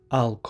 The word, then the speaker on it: I'll: I'll call you when I go. دوستای عزیز، این کلمه به شکل will است. در انگلیسی مکالمه ای باز به شکل all تلفظ میشه.